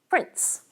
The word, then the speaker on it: prince: In prince, a little alveolar stop finds its way between the alveolar nasal and the alveolar fricative.